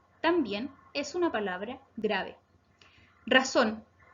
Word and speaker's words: razón: Razón. Razón se acentúa en la última sílaba, por lo tanto es aguda.